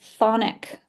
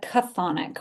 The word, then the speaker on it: chthonic: It's pronounced, the C at the beginning is silent. It's pronounced chthonic, the chthonic.